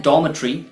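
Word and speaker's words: dormitory: Okay, सो ये होता है डॉर्मेट्री, लेकिन यूएस प्रोनाउंसिएशन इसका होता है डॉर्मेटोरी।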